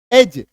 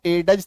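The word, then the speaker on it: edge: तो डी जी ई भी जब आएगा तो उच्चारण नहीं होगा। डी का उच्चारण नहीं होगा। जैसे ई डी जी ई एज इसको ए डज तो नहीं बोलेंगे।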